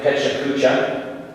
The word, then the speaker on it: Pecha Kucha: If you're not familiar with it, it looks like Pecha Kucha. It is pronounced Pechakucha, and it is a Japanese term that means chit-chat.